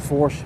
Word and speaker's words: Belle Fourche: So you see how that looks like it's spelled Fourche, F-O-U-R-C-H-E. And for me, I always want to call it Fourche, but they actually pronounce it Fourche.